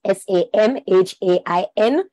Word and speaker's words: Samhain: It is spelled S-A-M-H-A-I-N, but it is pronounced Samhain.